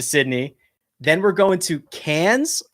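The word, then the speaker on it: Cairns: then we're going to Cans I believe is how they pronounce it which is up in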